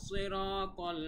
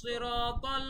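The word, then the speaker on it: صراط: অনেকে কিন্তু সিরাত বলে, হবে না, সিরাত বললে বলতে হবে সিরাত, ঠিক আছে। সাদের উচ্চারণ, তায়ের উচ্চারণ পারফেক্ট হবে।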